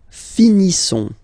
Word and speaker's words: finissons: Nous finissons. Okay, I-S-S-O-N-S. Ils sont. Nous finissons. Finissons. Okay, final S not pronounced.